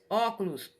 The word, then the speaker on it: óculos: sílaba é a antepenúltima por exemplo óculos última penúltima e antepenúltima tá e aqui eu